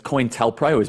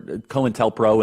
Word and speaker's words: COINTELPRO: talking about you know I think it's cointel prize mispronounced it Cohen whatever cointelpro and uh operation Mockingbird and